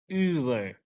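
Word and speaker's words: über: U umlaut. In English, we can say it like double E. U, U. Like in Uber, Uber, Uber, Uber. Double E come at same time.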